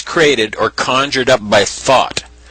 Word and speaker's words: Thoth: This was created or conjured up by thought. Thought is the Egyptian god Thoth, the creator of almost every activity known to man. Thought is spelled Thoth.